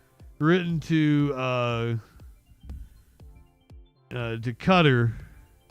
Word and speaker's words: Qatar: I I can't believe that there was an apology letter written to uh uh to cutter.